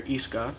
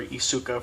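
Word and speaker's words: Isuka: so cool next is guilty gear ESCA or Asuka for people who like to pronounce it that way often this game is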